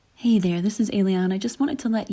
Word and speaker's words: Ayliean: Hello, yes, my name is Ayliean and everyone pronounces it differently. It's Ayliean like an alien.